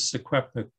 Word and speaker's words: Secwepemc: And here in faint red letters, in faint red letters here is his attempt to spell the name Shuswap, Secwepemc, which is closer to the pronunciation, which is Secwepemc today.